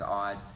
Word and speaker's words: Odd: name was really odd some people say that it's pronounced I did but I did double check with people who knew him and his wife and his wife did refer to him as odd his uncle's name was